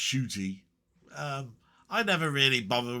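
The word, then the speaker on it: Ncuti: Muti is pronounced shooty.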